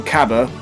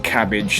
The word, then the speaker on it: Cabba: got we've got loads of new information on Caba as his name has now been I want to say confirmed to be pronounced but there's also another way of pronouncing